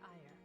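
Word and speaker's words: Aegir: of influential nobles including the prime minister duke ire and while we have allies that's pronounced fire a-e-g-i-r here at the academy their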